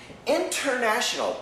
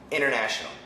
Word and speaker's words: international: International, perfect pronunciation, international. I am an international English teacher. But usually we say international, international. Internet, we say internet, internet. The N cancels the T.